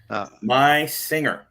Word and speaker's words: Meisinger: Meisinger. Yep, he taught me how to say his name correctly. So me using the Z pronunciation of the 2 S's is incorrect.